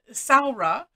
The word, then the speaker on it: Samhradh: this um and so she helped with the pronunciation because it is uh sarah is it means summer or summer time in